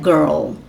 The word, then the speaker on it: girl: né menina Girl né Girl Pearl Pérola né esse R com esse L aí você precisa fazer o r lá atrás e o l aqui na frente na sua boca Carl Bad caverns tá